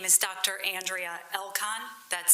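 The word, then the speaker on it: Andrea Elkon: Andrea Elcon. That's spelled A N D R E A E L K O N.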